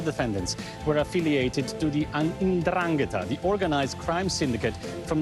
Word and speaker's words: 'Ndrangheta: Now, all the defendants were affiliated to the 'Ndrangheta, the organized crime syndicate from the southern region of Calabria. This is how you pronounce it, actually.